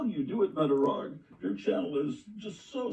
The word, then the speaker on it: Metarog: that we are today metog metog that's spelled me a r o metog metog he